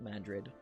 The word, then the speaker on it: Madrid: this place called madrid which is literally spelled madrid it's just pronounced mandrit um it's kind of